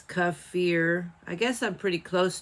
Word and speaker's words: kefir: But I cannot guarantee that I will get it right every time because I'm used to saying Kefir. But it's Kefir.